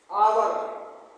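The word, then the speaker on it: hour: N umbrella आवर एच ओ यू आर आवर नहीं पढ़ना है इसको आवर एच इसमें साइलेंट है।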